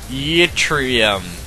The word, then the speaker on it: Yttrium: Yttrium.